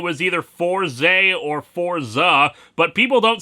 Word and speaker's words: Fourze: episodes of Kamen Rider Forza you may recall that last week I pronounced it wrong as for Z my mistake I hadn't